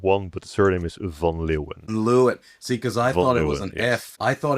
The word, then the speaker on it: van Leeuwen: can do that one, but the surname is Von Lewen. Lu. See, cuz I thought it was an F. I thought it was an F, a funloven or something.